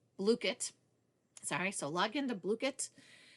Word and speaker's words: Blooket: pronounced. Blooket.